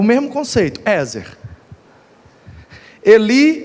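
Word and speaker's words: עזר: A palavra hebraica aqui é Ezer. Ezer. No hebraico a pronúncia seria algo parecido com Eshre. Eshre.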